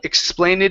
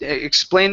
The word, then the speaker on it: explained: one here is um explained the ED ending instead of explaining it explained it to her okay explain to